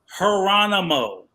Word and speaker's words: Geronimo: Geronimo. So replace the G with the H. It's not that hard radio.